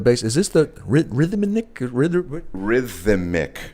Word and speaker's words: Rithimic: Rhythmic. And it's spelled RITHIMIC. Right. Rhythmic. Not like you'd expect it to be spelled.